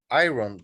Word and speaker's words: iron: This is the way you write it, but when you pronounce it, you don't pronounce the R. Iron, okay? That's the pronunciation, right.